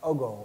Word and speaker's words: Ogo: The word, which Egyptian word for light, A-A-K-H-U, corresponds to a Dogon word for light, which is pronounced Ogo, O-G-O.